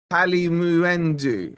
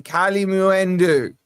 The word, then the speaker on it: Kalimuendo: Uh, the U is the moo. Kali Muendu. All right. You're happy. Kali Muendu.